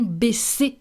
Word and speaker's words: baisser: Baiser actually means something else, and it could be translated in English as to fuck, actually. So you really need to pronounce it correctly, this one. Baisser, baisser.